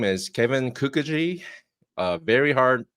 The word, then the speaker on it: Kookogey: have a special guest his name is Kevin Kukui a very hard name to spell or pronounce but you got it right you got